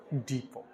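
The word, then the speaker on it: depot: बोलते हैं वही बुख डीई पी ओटी क्या पढ़ा जाएगा इसको डीप टी साइलेंट रहेगा य क्या पढ़ेंगे इसको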